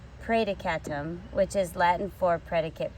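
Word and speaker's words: praedicatum: for pray to come pray dekatum I'm saying it wrong pray to catam which is Latin for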